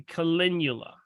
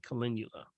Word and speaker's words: calendula: we kind of should not use topically okay calendula Cheryl yes calendula c-a-l-e-n-d as in David u-l-a calendula it's the marigolds you can't miss it when